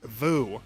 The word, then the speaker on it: Woo: big stupid argument about whether director John Woo's name is pronounced John Woo or John Vu. It is Vu.